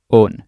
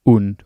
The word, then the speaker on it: und: And remember, it's pronounced on, not und or un.